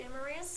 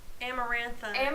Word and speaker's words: Amarantha: Amarantha. Amarantha. It's like she ran out of like creative names and she's like, what rhymes with Samantha?